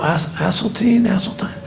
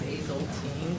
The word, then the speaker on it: Asseltine: Did I pronounce that correctly? Asseltine? Well, my husband's family says Hazeltine.